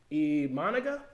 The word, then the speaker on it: Imanaga: You're getting Imanaga, if you want to pronounce him correctly.